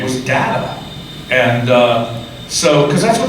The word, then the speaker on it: Data: Is the character Data or Data?" And Gene said, "Let's set a rule right now. Whoever says the thing first, that's the way it's pronounced." And so I became Data that day.